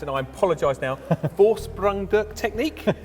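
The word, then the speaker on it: Vorsprung durch Technik: Vorsprungduk technique? How do you say it, and what does it mean? Okay, you're very close. I mean, I guess putting a typical German accent on it, Vorsprungduk technique is the way to pronounce it.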